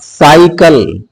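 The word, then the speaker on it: cycle: से होगा जैसे सिटी सी के बाद बाई आ जाए क्या आ जाए बा तब भी इसका उच्चारण किससे होगा बा से स से होगा साइकल क्या है सी आई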